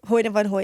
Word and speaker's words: Hoyte van Hoytema: Hoyte van Hoytema.